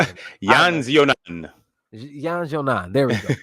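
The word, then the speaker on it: Yan Xiaonan: Jessica Andrade versus Yan Jijing. How do you say it? Yan Zionan.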